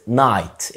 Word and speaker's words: night: عندنا كمان كلمة night اللي هي زي الليلة بس النطق مختلف، night night بمعنى كلمة فارس، الكي هنا متنطقش night.